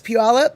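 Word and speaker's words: Puyallup: And how do you pronounce puallup?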